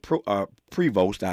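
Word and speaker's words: Prevost: His name is Robert is it pro uh Pvost. It's spelled P R E V O S T. Yeah, Post. Robert Post is his name.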